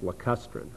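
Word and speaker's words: lacustrine: environment then these soils are referred to as lustrin and that's spelled l a c u s t r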